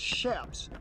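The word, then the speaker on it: chaps: It is not pronounced. Oh, look at that little It is shaps.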